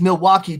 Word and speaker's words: Milwaukee: And real quick, just for Clayton, because Milwaukee does rhyme with hockey.